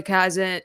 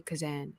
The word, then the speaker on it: Kazan: well while watching it so I love Zoe cazen kazen cousin Zoe Kazan yes I always get her name wrong and uh Carey Mulligan together they have